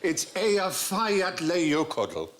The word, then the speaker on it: Eyjafjallajökull: And I think, actually, the way you're supposed to pronounce it is... Hutch. If only. It changes it. Apparently, it's Eyjafjallajökull Leiokodl.